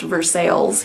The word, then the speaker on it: Versailles: Missouri and a Versailles Missouri and yes it's pronounced Versailles here sinneth traveled a long way to get